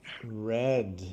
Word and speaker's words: read: What's the pronunciation of the past of read? Read. Nope. Read is No? only the present. It's one of those Read. Read. red. Yeah, just like the color.